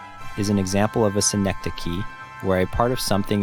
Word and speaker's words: synecdoche: The emphasis is on the first syllable, and the CH sound is pronounced like a K.